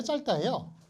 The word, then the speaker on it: 짧다: 거예요 표함으로써 짧다 짧다 짧다요 어떻게 발음해요 짧다 짧다예요네 그 이런 걸 제 겹 그 겹받침이 그러는데 겹받침이 앞에서 앞에 걸로 소리 나는 경우가 많아요 뒤에 걸로 소리 나는 경우가 많아요 예 앞에 거 소리 나는 거 그니까 저기 두 개 다 발음할 순 없어요 한국어 발음은 그래요 한 자리에 하나만 발음할 수 있어요 그래서 영어 같은 경우는